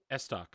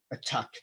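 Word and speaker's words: estoc: Yeah, apparently you can pronounce it either way.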